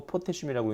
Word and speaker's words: 포테슘: 칼륨이라고 쓰고 포테슘이라고 읽는다.